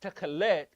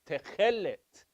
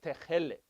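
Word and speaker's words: תכלת: It's not techelet, it's techelet. Okay? So usually, most words in Hebrew, it's ta ta ta ta ta ta. The emphasis is on the final syllable. Except the exception is when you have a double segol, a double E sound. Then it goes to the first syllable. So not techelet, but techelet. Okay?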